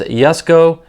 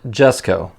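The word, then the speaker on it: Jesko: Yesco. And I did have to look it up. It's pronounced Yesco, not Jessco. So, you have to say it with a Y sound.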